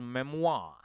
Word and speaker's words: memoir: you pronounce this memoir no it is memoir mwah correct Uma and all don't give yeah it is what Memoir it is not Memoir generally we Indians you